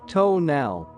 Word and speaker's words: tonal: I knew that the tonal, pronounced tonal, was thought to be a kind of guardian